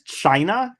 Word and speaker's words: Chyna: character in the thing, her name is China, but it's spelled like Chyna.